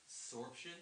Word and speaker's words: Soreption: How would you say that? Sorption? Sorption. Sorption, yeah. Okay. Sorption. If you want to say it like that, I guess you could do that too.